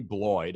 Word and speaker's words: Bloyd: So, Boyd, I pronounced your last name right?